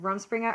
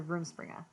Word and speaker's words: Rumspringa: Is it Rumspringa or Roomspringa? Oh, either. Both Oh, from okay.